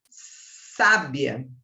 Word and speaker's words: sábia: e eu tenho a palavra sábia de Sabedoria aquela professora é muito sábia Qual é a sílaba tônica é o tá Mas eu tenho também